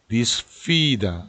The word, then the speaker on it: disfida: 여기서 주의하실 거는 요 F 발음입니다. 우리는 그냥 disfida 이렇게 발음을 하게 될 텐데요. 여기에서 꼭 입술을 붙여서 disfida, fida,요거 발음 주의하시고요.